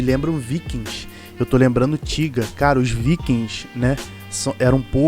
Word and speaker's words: Tyga: Daí ele fala Tiga, né, que é como se escreve a palavra para poder rimar com nigga, que é a palavra que ele usa em cima.